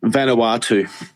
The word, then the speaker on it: Vanuatu: yeah when you look at little places like Vanuatu why not avoid taxes because the government don't spend our money correctly yes also no vanawa too is the way I pronounce it it's uh out uh um just